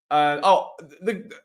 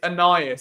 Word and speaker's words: Aeneas: Everyone's like, it's Aeneas. It's Aeneas.